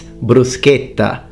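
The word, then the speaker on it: bruschetta: latin still remains and by the way it's brusqueta not latin produced the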